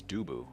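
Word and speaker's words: 두부: Do you pronounce it tofu, Choe? Like the... No, actually the Korean word for it is dubu, which is a funner thing to say.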